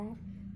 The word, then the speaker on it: who: Where में WHE आ रहा है, और विच में WHI आ रहा है, तो यहाँ पर H साइलेंट होगा।